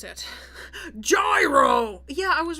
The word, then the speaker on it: gyro: wait i need to how do you actually pronounce it gyro yeah i was right yet i was right